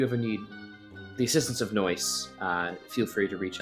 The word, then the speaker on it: NOICE: occult investigative collaborative ensemble nice man but it's pronounced noise no noise noise yeah